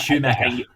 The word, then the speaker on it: Schumacher: Angus Schumacher. Angus, yes. So it is like the Ferrari driver, but no, they played.